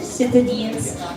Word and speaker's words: Citadines: Citadines Citadines Millennium 3 go rhymes with sardines.